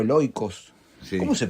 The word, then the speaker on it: oikos: La casa, el oikos o el oikos. Sí. ¿Cómo se pronuncia? Oikos. Oikos, no oikos.